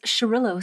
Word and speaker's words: Xarel·lo: So the X is sh pronounced shh in Spain.